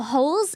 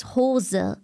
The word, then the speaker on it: Hose: Oh yeah, and a hose in German is Hose. So again, if you pronounce the word hose, no one will know you're talking about pants. You have to pronounce it Hose.